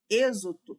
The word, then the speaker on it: êxodo: Quando eu falo êxodo, êxodo ali, o X já está com som de Z.